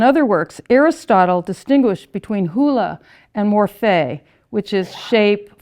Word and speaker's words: hyle: I had to get advice on how to pronounce this, hula, H-Y-L-E, which means wood, matter, that which is disorganized, cannot be counted, and receives form. So to distinguish hula from, and the Latin term materia, which we